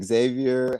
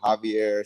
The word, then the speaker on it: Xavier: Like I said, Xavier, Javier, Xavier. It's all fine with me. Or just call me.